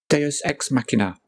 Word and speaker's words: Deus ex machina: Luckily, the Deus Ex Machina fairy... Yep, see, I made sure to pronounce it right this time. Deus Ex Machina.